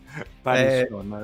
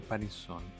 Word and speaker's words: Panisson: Ma forse l'accento sul cognome non è corretto, Se l'ho detto io è corretto, e se non è quello che dici tu, lo cambierai. È Panison. Panisson, il buon Veneto è Panisson.